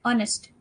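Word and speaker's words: honest: तो एच है लेकिन प्रोनाउंसिएशन हमारा ओ से आ रहा है, ऑनेस्ट, है ना।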